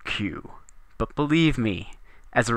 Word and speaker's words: queue: Q now you might say Sir that is pronounced K like it is Spanish or something not q but believe me as a reformed ker I